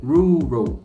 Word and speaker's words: rural: Só que a pronúncia correta é rural.